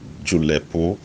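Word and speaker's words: julepu: ju l EP u julep Oh now the you the first you and the e have falling stress max from left to right the last shoe loves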